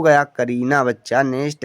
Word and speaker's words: करीना: ए आर आई एन ए इसे हम पढ़ेंगे करीना के से का होता है ए साइलेंट आर से र आई से बड़ी की